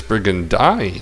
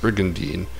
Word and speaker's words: Brigandine: justice burgundy the oh they say it as brigand huh that's how i always used to say it but then i found out that it's supposed to be pronounced brigandine that's awkward i guess i